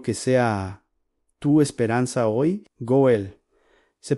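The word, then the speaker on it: גואל: Goel. Se pronuncia exactamente así en en Gol.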